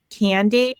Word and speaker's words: CandAid: The charity that I support is called Candid, which is spelled Candaid.